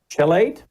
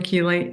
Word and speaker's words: chelate: Magnesium chelate? Yes, magnesium chelate. Chelate. Well, see, I was trying to use phonics. It was CH, so I was trying my phonics, didn't work.